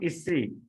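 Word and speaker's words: אישי: Okay, because under the sin also Hirakyod is there. Okay, I is there, and that's why we should pronounce Isi.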